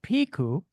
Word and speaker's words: Pico: into this finally I wanted to correct your pronunciation of P it's piku it's named after the volcanic island in the